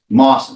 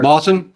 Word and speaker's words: Mawson: Mawson. My apologies, Your Honor. Mawson? Yes, Mr. Mawson. There's moss in the trees.